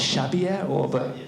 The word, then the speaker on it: Xavier: So in 1549, the missionary Francis, I think that's pronounced Xavier, Xavier, not Xavier, as I would know. Xavier or something, yeah.